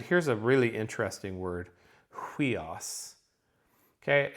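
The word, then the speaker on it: υἱός: And here's a really interesting word, huios. Okay, it's a nice choice because I've got a diphthong at the front of it, hui. But I've got, do you hear that H?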